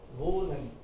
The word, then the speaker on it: wohnen: Wohnen. Wohnen. Key fill H silent रहता है और वो का ओ साउंड थोड़ा लंबा खिंच जाता है. Wohnen.